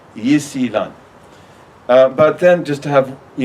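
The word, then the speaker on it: 伊斯兰: They will call it also Islam, which they pronounce Yisilan, which if you write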